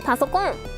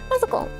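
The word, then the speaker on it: パソコン: You love how we pronounce PC in Japan? Pasokon. Personal computer. Pasokon.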